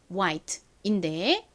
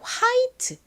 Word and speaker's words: white: 그리고 흰색을 의미하는이 단어 역시 정확한 발음은 white인데 한국식으로 화이트 이렇게 발음하고 표기하는 경우가 많아요.